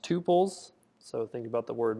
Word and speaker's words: tuple: Um, before I was saying tpples, it is pronounced tupils.